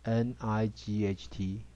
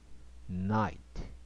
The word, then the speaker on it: night: 发音发 light light 光线哈，像再来 NIGHT night night 一样 GH 不发音哈，发 night夜晚啊。再来看下面一个范例 I 加子音加 E，